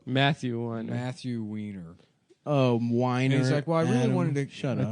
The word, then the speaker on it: Weiner: It's an interview with Andrew Weiner. Yeah, that's the guy that wrote it, right? Yep. Matthew Winer. Matthew Weiner. Oh, Winer.